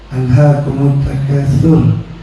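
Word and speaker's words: أَلْهَاكُمُ التَّكَاثُرُ: Alhakum tur itu Bapak Ibu bacanya pakai huruf tsa. Alhakumut takatur.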